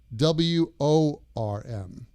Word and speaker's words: worm: The O-R in worm sounds like an E-R sound, like I heard you. I heard you. It's a very tight sound. Your tongue goes to the top of your mouth.